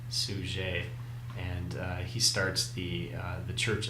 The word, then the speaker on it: Suger: It's kind of spelled like Abbot Sugar, but he's French, so it's pronounced Suger, and he starts the